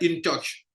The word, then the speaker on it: InTouch: InTouch, bon, en anglais, on dirait InTouch.